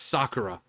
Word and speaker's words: Sakura: It's like it's Sakura.